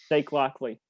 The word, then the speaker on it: Jake Lockley: When I kind of was hoping like the last, that scene would be just we could see Jake Lock. Is that how you say it? Jake Lockley? Jake Lockley.